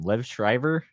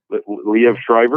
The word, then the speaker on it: Liev Schreiber: Liv Shriver? Liev Schreiber.